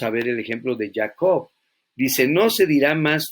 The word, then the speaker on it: Jacob: dirá más tu nombre jacob o jacob como lo que has pronunciado el ticket lion no suena como jota sino como y para nosotros ya no será ya co sino israel está otra